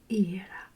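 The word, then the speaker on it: Ήρα: In Greek, it pronounced Hera.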